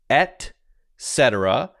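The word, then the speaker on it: et cetera: because it's kind of a tongue twister it's pronounced at cetera and you could say etc so you hear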